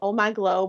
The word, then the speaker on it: OMGlo: And my product is called Oh My Glow, but it's spelled OMG, like oh my God, and then there's LO.